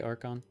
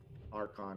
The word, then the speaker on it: archon: a stranger was I looked it up and I was saying it wrong I think it is Archen the arch they say they speak it several times oh okay so in this they say archon archon yeah okay the archon was